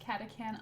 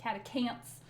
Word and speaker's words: Catachan: It's pronounced Catachan. Oh, that's right. Chaos Emperor. Thank you for the correction. Catachan as opposed to Catacants.